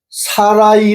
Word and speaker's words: 사라이: 그래서 개혁 성경에는 사례라 하지 말고 사라라 하라라고 돼 있는데 사실은 그게 아니고 사라이 하지 말고 사라라 하라 이렇게 돼 있어요. 사례가 아니고 사라이 세음절해요. 근데 사라이하고 사라 두 음절하고 거의 같잖아요.